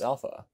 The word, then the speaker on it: alpha: This is alpha. It can be pronounced with two lengths, long and short. The long alpha is pronounced with an ah sound, like in father.